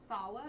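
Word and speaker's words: Salwa: clubs so yeah sure fawa is my name I have to spell it okay s-a-l-w-a it's like Salma but with a W and and uh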